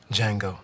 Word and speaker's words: Django: he what's your name django the d is silent you